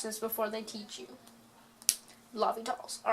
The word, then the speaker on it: L'Hôpital: as if it's the hospital roll it's actually pronounced Lobby tall you can impress your teacher if you watch this before they teach you Lobby dolls all right now that we've figured out how